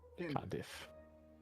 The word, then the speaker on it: Condiff: Condiff. K. Condiff. Mhm. Condiff. Like when your constitution score is much higher than your foes.